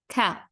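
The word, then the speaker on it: ك: Qaf is going to be a heavier letter and the Kaf is going to be a lighter letter.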